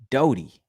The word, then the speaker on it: Dottie: Dottie Fishing says no big deal, but Dottie is pronounced Doty. Hard O.